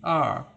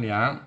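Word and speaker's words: 二: bahasa Mandarin dibaca yaw dan angka dua dibaca R bukan liang contohnya Misalnya ini dua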